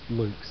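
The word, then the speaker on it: LUKS: And it has a fairly sophisticated key management system in user space called Lux, I think is how it's pronounced.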